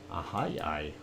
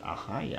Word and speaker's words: Ahyi: There really isn't anything else that is new except for that Ahai. I like the way they pronounce that. Ahai. I actually went on there and got the pronunciation.